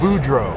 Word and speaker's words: Boudreau: Although, there is a name that we just found that's very long and it just happens to be two syllables. Uh, but you can do an easy US Budro.